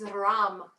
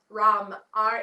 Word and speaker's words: ram: your hands back in the seed syllable for this chakra is ram rom ram if you can roll your r great otherwise it's okay either way so taking an